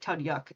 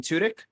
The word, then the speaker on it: Tudyk: this man's last name i always say tud yuk and that's not right alan tudyk thank you i always